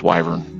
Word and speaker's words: wyvern: Actually did find out that's actually the correct pronunciation is Wyvern.